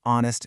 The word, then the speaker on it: honest: And then there's a tricky silent H in words like hour, honest, and ghost.